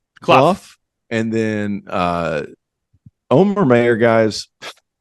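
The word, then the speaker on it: Cluff: Oscar Kloof or Clough? Clough.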